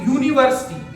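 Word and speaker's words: university: देखिए मैंने आप लोगों के सामने अब देखो अगर हम इसको पढ़े तो यूनिवर्सिटी इसको जब हम पढ़ेंगे तो ये लिखा जाएगा यूनिवर्सिटी यूनिवर्सिटी अगर हम इसको पढ़ेंगे तो ये यूनिवर्सिटी हमने लिख दिया।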